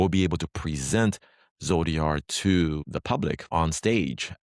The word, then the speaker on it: ZODR: Uh somebody joked with me recently that they don't quite understand Zodiar because they're pronouncing it Zotter. But uh for me it it's kind of stuck. So I that's why I say Zodia.